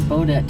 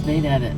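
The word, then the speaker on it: Baudette: Looks like Bodet to me, but it's Bett. I looked it up, so we were pronouncing it right.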